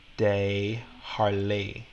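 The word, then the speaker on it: DesJarlais: So you don't have to worry about knowing how to pronounce this one. But this one I would say is like Scott de Harlay.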